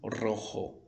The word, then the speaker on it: rojo: Rojo, que parece roxo, né? É uma cor, mas é vermelho, certo? Então, se um coche rojo é um carro vermelho.